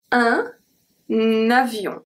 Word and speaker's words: un avion: We have un avion. Un avion. Avion. So here we keep the pronunciation of the article un, okay? But then the N is going to be transferred to avion.